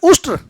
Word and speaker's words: उष्ट्र: तो ऊंट का जो शुद्ध उच्चारण होता है वह होता है उष्ट्र।